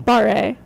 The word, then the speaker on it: barre: Barre. Yep, and it's spelled barre, yep.